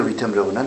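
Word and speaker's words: Wittenberg: 독일 사람들은 V자처럼 이렇게 발음한다고. W를.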